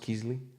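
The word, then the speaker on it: Kysely: Is it pronounced Keasley? Yes. Yeah.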